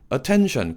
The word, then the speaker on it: attention: drawing, drawing 이렇게 해주시고 much attention, attention 끝소리가 콧소리죠? 은 소리가 살짝 살아있어야 돼요.